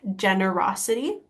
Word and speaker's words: generosity: a difficult word because this G sounds like a j a little bit generosity and so just to